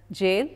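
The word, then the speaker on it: gaol: what writer and then G a oh L that's pronounced as jail that is an old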